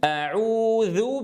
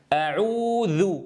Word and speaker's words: أعوذ: إذا أعوذ بالـ أعوذ أعوذ، أعوذ، أعوذ، ركزتم يا إخوة؟ ولا أقول أعوذ، هذا الفاصل الصوتي فيه خلل، أتمنى من كل من يسمعني أن يركز جيدًا وانتبهوا إخواني وأحبابي.